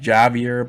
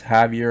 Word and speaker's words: Javier: talk about javier okay some people say he's javier but i believe it's heavier i got a friend from argentina and he corrected me saying the correct pronunciation is javier okay a beautiful name um there's a gentleman